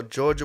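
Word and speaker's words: Jawga: y'all saying Georgia Boys they spell it j a w g a but it's Georgia Boys but boys I never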